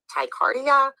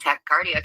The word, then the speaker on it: tachycardia: participate in a polygraph test because you have tachycardia, or however it's pronounced, but your heart beats Yep. faster. It's tachycardia.